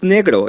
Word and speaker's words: negro: The word is negro. It's from Spanish. Okay, say it right. That's how I know how low IQ you are. You have to roll that R though.